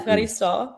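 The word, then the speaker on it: ευχαριστώ: Efkaristo, that's how you say it.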